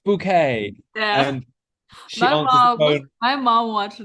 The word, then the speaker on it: Bucket: being more posa so her name is bucket but she says pronounced bouquet yeah and my mom